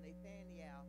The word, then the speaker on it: Nathanael: Y'all noticed I'm saying his name the way it was in the Hebrew. It was Nathanael, and I think that's the modern day Nathaniel. You know, we just took some of the syllables out in there.